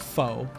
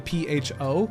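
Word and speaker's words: phở: Like I saw a whole TikTok on, well, Westerners will call it pho, the P-H-O, like the noodle soup, but it's actually pronounced pho, but it's actually pronounced pho, like kind of like a question mark at the end, kind of like you're asking a question.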